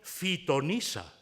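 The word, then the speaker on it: phitonisa: En vez de pitonisa, que es lo que esperaríamos, tenemos fitonisa, con PH y pronunciado después, evidentemente, como F.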